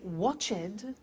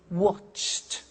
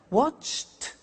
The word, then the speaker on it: watched: the pronunciation becomes T we don't say watch it we eliminate the e and we say watched okay interesting hey so look at that watched danced eliminate the e